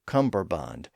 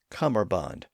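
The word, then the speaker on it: cummerbund: Interestingly, in modern English, especially in North America, it's often pronounced as cumber with a b sound in the middle. So, Cumberbond, even though the traditional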